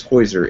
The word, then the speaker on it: Heusser: it's new for everybody my name is is hoer h u SS e r so your names are more pronounceable than mine but uh uh you've got